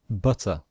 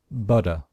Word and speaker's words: butter: and it shows that the letter t in american english sometimes sounds like a letter d so americans in british english we pronounce this butter but some americans pronounce it butter okay so this is